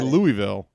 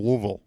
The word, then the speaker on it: Louisville: sure yeah right right because you have to swallow it you have to swallow you have to go like a wuille like I'm going down I'm going down to the universe of wuille and if you say Louisville they will let you know that you are in fact mispronouncing louville it's Outsider they do